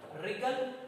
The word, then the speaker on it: wriggle: Okay, third number column you see the pronunciation wrinkle, wriggle and right. ये तीनों का जो pronunciation है wrinkle, wriggle और right, here W, W and W, all 3 W's are silent here.